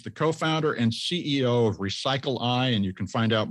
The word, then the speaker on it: Recycleye: de wolfe he's the co-founder and ceo of recycle i and you can find out more at recycle